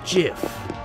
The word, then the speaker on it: GIF: the truth it's pronounced jiff huh dot jiff like the peanut butter the creator said so